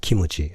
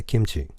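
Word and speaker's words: キムチ: I think people in Tokyo or people who speak standard Japanese say kimuchi as mu has to be a syllable of its own. But in Hiroshima we say kimchi. Kimchi tapta. So I think in Hiroshima we have M ending.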